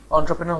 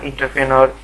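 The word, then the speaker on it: entrepreneur: এরা ইন্টারপ্রেনর, ইন্টারপিওনর, হ্যাঁ, অন্টারপ্রেনার এরকম উচ্চারণ করে। কিন্তু একটা জিনিস খেয়াল করে দেখেন, আমি ওয়ার্ডটা লিখছি, এটা আসলে এন্ট্রপ্রেনর বা অন্টারপ্রেনর, এন্ট্রপ্রেনর বা অন্টারপ্রেনার এরকম কিছু না, এটা হচ্ছে অন্ট্রাপ্রেনর, অন্ট্রাপ্রেনর, অন্ট্রাপ্রেনর, ঠিক আছে?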